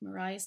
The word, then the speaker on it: Maria: of the metal with Mariah's name written out the way you're supposed to pronounce it again Mariah I've seen